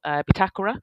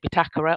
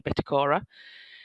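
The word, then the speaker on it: Bitácora: We've got the Hotel Bitakura. That is the correct way to pronounce it. We've had lots of fun this week on about how to pronounce it, Bitakura, or you may know it as the Bitacora.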